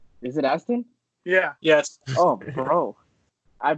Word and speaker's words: Sean Astin: Sean Astin. Is it Aston?